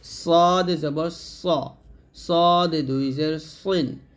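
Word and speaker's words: ص: গুরুত্বপূর্ণ একটা হরফ সদ এই সদ উচ্চারণ করতে করার সময় আমরা সিন করে ফেলি এটা সাবধান থাকুন যেন সিন না হয়ে যায় যেন এটা হবে সদ জবর সদ দুই জের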